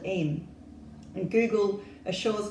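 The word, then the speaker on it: Eyam: about the small rural village in Derbyshire called M and Google assures me that the correct pronunciation is M and it's a place that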